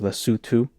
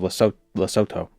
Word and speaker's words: Loto: Uh, loto and sto are pronounced lutu and not lu. Loto. I always thought it was loooto or loto. Loto.